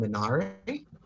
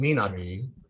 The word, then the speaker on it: Minari: one is a film called minari or i think it's pronounced minari uh by isaac chung